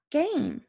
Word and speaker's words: game: Number four, Mike and Kate sometimes play a game. Let's see, does this fit our rule? I see a vowel, M is a consonant, and an E. The silent E makes the A say its name.